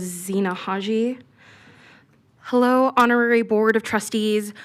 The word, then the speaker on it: Zena: Lena please state your name for the record. And for the record it is Zena Hello honorary board of trustees.